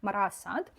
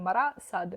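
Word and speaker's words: Marat/Sade: Я, коли знімала відео про вішліст, неправильно вимовляла ці імена, бо думала, що вони німецькі. Виявилося, що німець написав про французів. Я цього не знала, тепер знаю, правильно казати Мара Сад.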